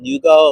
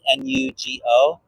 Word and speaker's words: NuGo: But I do like protein bars from this company called, I think it's pronounced Nugo, like Nugo.